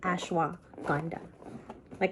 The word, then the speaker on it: ashwagandha: Ashwagandha. Like in the Filipino word, if you're beautiful, you're maganda.